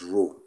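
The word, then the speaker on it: rho: here is row okay you pronounce it as row r h o okay so this row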